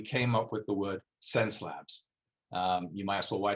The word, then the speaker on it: Xencelabs: the world to learn how to how to pronounce this word so sense labs get it get it in there so you'll